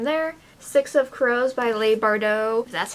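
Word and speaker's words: Leigh Bardugo: four books from there six of crows by Leigh Bardot that's how you say her name I actually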